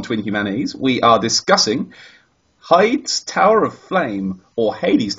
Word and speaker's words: Heide: No, I think it is Heide. I'm sure I remember somebody on Twitter once complaining that it was being mispronounced. I think Heide or Hyde are both acceptable.